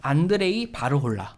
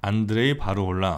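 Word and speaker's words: Andrej Varhola: 오리엔 dol 주니어 거든요 아버지 이름이 슬로바키아 식으로 발음하면 안드레이 바로 올라 안드레이 바로 올라 왜 그거 했는데 이제 미국으로 오면서 앤드류 올라 라고 아 아 그래서 어느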